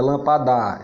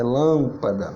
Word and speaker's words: lâmpada: ela sempre é fraca observe que a sílaba forte é lá no lan aí não não mudar não é lampada e lâmpada é isso beleza em